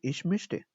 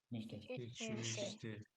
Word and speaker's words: möchte: mischte, pronounce with me, ish mischte. Ich möchte.